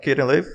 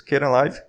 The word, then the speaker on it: Kdenlive: about skating live first the pronunciation is not kitten live it's kinda live and second this is